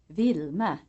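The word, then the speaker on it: Wilma: W is pronounced like a V in Swedish. You will only find it in names. Examples: Vilma, vinblad.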